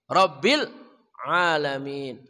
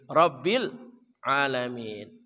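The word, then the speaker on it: رب العالمين: Di sana ada lam juga, Rabbil, jangan Rabbil ya. Rabbil enggak boleh ya. Rabbil alamin. Rabbil alamin.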